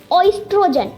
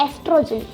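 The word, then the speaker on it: oestrogen: आपको इसको ऑइस्ट्रोजन करके नहीं बोलना है, आपको सिर्फ इसको एस्ट्रोजन बोलना है, लेकिन ओ आप स्पेलिंग में लिखना, ठीक है, ओ आप लिख सकते हो स्पेलिंग में। तो इसको क्या लिखना है, ऑइस्ट्रोजन, लेकिन बोलना क्या होता है, एस्ट्रोजन।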